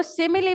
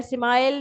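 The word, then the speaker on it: simile: सिमिली याद रहे कि इसको सिमिली प्रोनाउंस किया जाता है। सिमाइल नहीं मैंने बहुत से स्टूडेंट्स को देखा है कि वो इसको सिमाइल कह रहे होते हैं।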